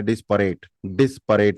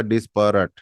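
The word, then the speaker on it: disparate: डिस्प रट डिस्प रट हमें इंडिया में ऐसे पढ़ने में लगता है डिस्पेस परेट नहीं होता डिस्प रट इसकी स्पेलिंग है डी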